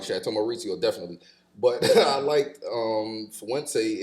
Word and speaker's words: Maurizio: That's how you pronounce that, Maurizio.